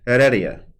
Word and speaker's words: Heredia: Heredia, right? Yep. Yeah, that's right, because the H is silent.